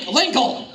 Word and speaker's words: Linkle: Girl, Link, Link, Linkle. As in rhymes with tinkle?